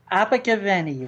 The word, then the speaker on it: Abergavenny: Abergavenny, Rob.